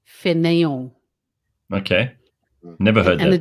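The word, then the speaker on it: fainéant: It's French, so it's F-A-I-N, yeah. E with an accent, mm-hmm. A-N-T, fanayong.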